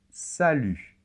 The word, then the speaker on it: salut: très bien et attention la lettre T finale ne se prononce pas et ça c'est très